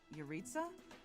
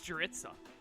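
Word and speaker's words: Jeritza: anything i'll know what yaritza hmm come to think of it i haven't seen him today yurita's name is pronounced without the j yeah it was jurisa nope that's fair i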